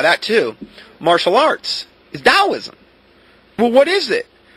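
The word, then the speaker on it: Taoism: Then we have the concept of dowoism or t a o i s i m is how it's spelled.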